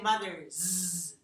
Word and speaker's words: mother's: So when we link these together, mother's side, it starts out with a z, and then you stop voicing here to make it s, z, z, z.